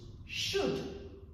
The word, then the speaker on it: should: Learners should also bear in mind that they should never pronounce the L when they're pronouncing these words. So, it's just should, would, and could, for example.